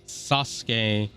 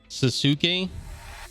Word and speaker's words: Sasuke: friend laughed at me, that a lot of times the Japanese, the U is pronounced, and I further knew that in the case of Shinsuke Nakamura.